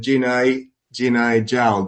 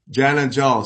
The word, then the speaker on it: Jana Jal: the partnership with BigWater and Jinai Jal. Did I pronounce that right? Jana Jal, sorry.